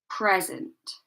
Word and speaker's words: present: And this one, present. Okay, So notice that the stress is placed on the first part of the word.